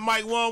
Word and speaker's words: Wang: See, if you didn't even know, you probably didn't even know that Mike Wong was back tweeting.